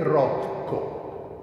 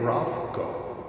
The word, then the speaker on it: Rothko: Lui mi ha detto che casomai, in italiano si dovrebbe dire Rothko, perché noi nella nostra lingua non siamo tenuti al TH inglese, ma se lo pronuncio all'americana è Rothko.